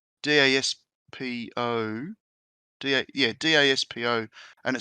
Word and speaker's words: Daspo: It's from a guy called I can't pronounce it. It's Daspo.